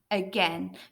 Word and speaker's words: again: it it is again again the letters a and I are making an e sound let's say the word